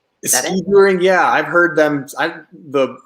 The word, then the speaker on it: skijoring: How do you pronounce it? Skijoring? Skijoring, yeah.